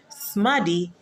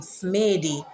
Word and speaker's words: smaddy: Smaddy would have a double D in there because of how it sounds. If you say, if you were to spell it with one D, it would seem like it's saying smady. So smaddy sharpens the D sound in it.